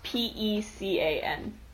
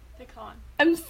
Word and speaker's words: pecan: How do you pronounce Pecan? Pecan. I'm stressed from you spelling words. Do you want me to type it out for you? I say pecan.